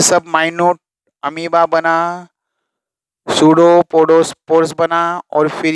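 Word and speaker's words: pseudopodiospore: मैं भी बोलता हूँ जब वो कितने स्टूडेंट उसको स्फीयर समझते, स्फीयर नहीं, सूडोपोडोस्पोर. वो स्पोर बोलने जाते जब वो ऐसा प्रोनाउंस हो जाए जैसे स्फीयर.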